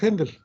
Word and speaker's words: Haendel: así aleluya de haendel haendel se escribe en el l h n de l yo la pronunció haendel aleluya de haendel la